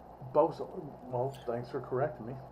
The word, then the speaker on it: boatswain: Boatswain Mate it's spelled b o a t s w a i n so you would think Boatswain, but it's actually pronounced b o s. B o s what? Bosun. Bosun.